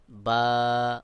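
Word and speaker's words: باء: হলো আলিফ আলিফ তারপরে বা অনেকেই বে এইভাবে উচ্চারণ করে সহি শুদ্ধ উচ্চারণ হলো বা বা তারপরে উপরে দুই নুক্তা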